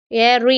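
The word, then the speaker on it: ere: ஏரி எஸ்டர்டே ஏரி எஸ்டர்டே அதாவது இ ஆர் இ ஏரி அதுதான் அதோட ஸ்பெல்லிங் ஆனா சொல்லும்போது நமக்குஏஐஆர் அந்த உச்சரிப்பு வருது.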